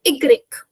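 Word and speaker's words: i grec: It is a complete different pronunciation from that of English which means Y is this one you just have to simply remember by heart because it's completely different from that of English and has no sense in this pronunciation. So you just simply remember this one by heart. So Y is going to be igreek.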